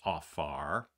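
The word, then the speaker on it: עפר: underlying Hebrew word is AAR it's spelled a p a r if you're taking notes it's pronounced AAR so the P there has like a ph sound um and that word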